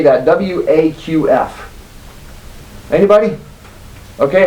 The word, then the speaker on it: Waqf: W-A-Q-F.